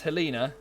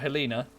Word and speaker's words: Helena: It's pronounced Helena, not Helena.